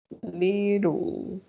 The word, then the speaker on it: little: to pronounce little well little you see i again i don't know little it sounds like the double t sounds like an er right little you pronounce